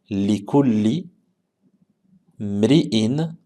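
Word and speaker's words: لكل امرئ: Wa innama likulli mri'in ma nawa. Donc ça, on retrouve ici hamzatul wasl, la hamza de liaison qu'on ne va pas prononcer. Donc du lam ici, on va aller directement au mim.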